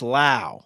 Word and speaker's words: Lowe: It's Lao, like how.